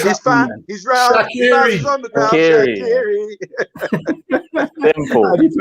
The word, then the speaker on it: Shaqiri: Shaqiri. Simple. How do you pronounce his first name?